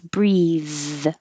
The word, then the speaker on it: breathe: like sync and then the the verb form is breathe anything that ends with the th e is almost always a verb there's not too